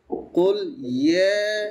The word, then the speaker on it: قل يا: قل يا আচ্ছা, এই যে একটু একটু কুল ইয়ে এভাবে না, কুল ইয়া, ইয়া আপনি চাপ দিয়ে শুরু করবেন, কিন্তু তারপরে তো স্বাভাবিকে চলে যাবে।